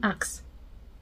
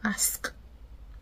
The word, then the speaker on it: ask: what do you say the ax or ask you ask ask for something I asked I I